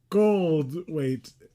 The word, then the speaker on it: Goldthwait: Goldthwait. Goldthwait? There's not a syllable in between gold and weight?